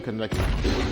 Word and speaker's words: Kaneki: I'm honestly gonna go and say Kaneki. Kaneki got done pretty dirty. Kaneki. Kaneki, nigga. Kaneki. Kaneki, nigga. Kaneki's right. Kaneki's the right pronunciation.